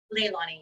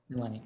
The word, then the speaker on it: Leilani: And it's pronounced Leilani, correct? Leilani, yes. Leilani.